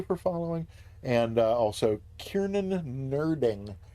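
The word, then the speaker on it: nurding: all of you for following and also Kiernan nerding it's n-u-r-d-i-n-g uh but that's got to be pronounced nerding and uh frankly I I typically object when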